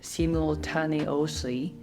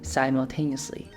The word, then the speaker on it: simultaneously: many of my friends uh would read it seem little taniosi because spellings don't actually give you the clue to uh what actual pronunciation of it is sound of it is